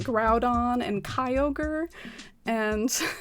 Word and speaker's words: Groudon: really weird um i grew up saying like grudon and kyogre and then i found out later it's pronounced like groudon and kyogre and it's just all been a